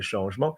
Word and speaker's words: changement: So the 1st of January 2023, a new change, notice for change we don't say change, we say changement, is going to affect numerous French people.